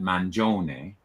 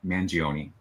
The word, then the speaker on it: Mangione: So you would, in Italy, you would pronounce that Mangione. So like the name Giovanni. You would often hear Giovanni, but it's really Giovanni. In the official Italian pronunciation, but I think you're right. I've heard it Mangione, which is sort of the Americanized version of it.